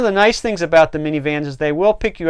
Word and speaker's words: Minnie: Okay, the next one we're going to look at is minivans. Now this is spelled M-I-N-N-I-E as in Minnie Mouse.